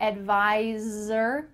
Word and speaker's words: advisor: Make sure that when you say the word advisor, there's a Z sound there where the S is.